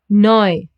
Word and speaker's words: neu: And E and U. Together they get pronounced as oi, like in Europa, neu, or heute.